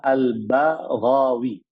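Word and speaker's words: البغوي: albagwi nama beliau e jadi membacanya adalah albawi bnya dikasih harakat fathah gnya juga di harakat fathah nama beliau adalah Al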